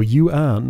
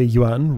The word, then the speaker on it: yuan: one more the Chinese yuan is the currency here though that word is one syllable I hear people go you an or you on and well wow that's